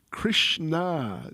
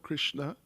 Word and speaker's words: Krishna: On November the 12th, Srila Prabhupada wrote to Krishna Devi. Not Krishna, Krishna, long A.